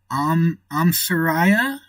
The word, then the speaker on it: Soraya: So, Soraya. The I is pronounced like hi or bye. So, Soraya.